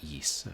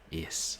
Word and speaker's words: Ys: of RPG games about a land called Is, or Is. I've heard it pronounced both ways, like YS.